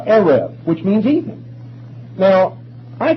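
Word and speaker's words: erev: there is a particular Hebrew word Arab we would spell it out e-r-e-v that's close enough uh Arif which means even now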